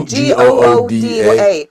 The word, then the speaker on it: Gouda: It's spelled Gouda. Sorry, Gooda. So Gouda.